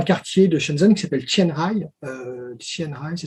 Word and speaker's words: Qianhai: Ils ont fait un quartier de Shenzhen qui s'appelle Qianhai. Qianhai, ça s'écrit Qianhai, dans le même mot.